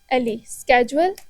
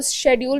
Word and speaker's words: schedule: Header में मैंने लिखना है SCHEDULE, स्केजुअल, और इसको शेड्यूल भी प्रोनाउंस किया जाता है।